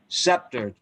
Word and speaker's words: sceptered: not skip the stick the c is not pronounced as k okay thank you for telling me sceptered just for future reference